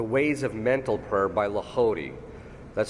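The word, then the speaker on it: Lehodey: the book the ways of mental prayer by lody that's spelled l e h o d e y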